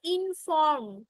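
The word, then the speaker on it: inform: ইনফর্ম ঠিক Rudranil ইনফর্ম তুমি আবার ফ্রম বললে তোমরা এটা একটু খেয়াল করবে এটা ইনফর্ম ওটা আগে আর টা পরে ইনফর্ম রিকোয়ার আস্ক ঠিক আছে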